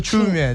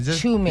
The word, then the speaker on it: Chiumya: Please teach us how to pronounce it properly. It's a silent I always say that. Okay, so Chiumya. Chiumya.